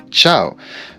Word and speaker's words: ciao: sé que al final normalmente no se dice ciao se dice Chiao pero bueno soy francés así que digo el Piagio ciao Intentaré durante el video, mejorar un poco mi acento italiano y decir el Piaggio